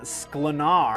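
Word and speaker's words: Sklenar: So, Brandon Slenar, I believe is how you say that last name, is reportedly the one they are looking at for Batman.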